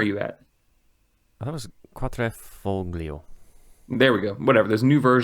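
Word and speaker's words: Quadrifoglio: Quadrifugila? That was How do you pronounce that? Nathan, where are you at? that was Quatrefoglio.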